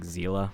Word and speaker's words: Seele: We are going to jump over to Seele. So, okay, also I want to say this. I know it's pronounced like Zeela, but I just say Seele now.